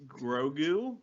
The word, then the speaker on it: Grogu: pronounced So Grogu. Get it Grogu.